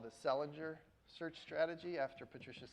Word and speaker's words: Selinger: or sometimes called the Selinger search strategy after Patricia Selinger. Oh, sorry, Selinger. I always said her name wrong. She pronounces it Selinger.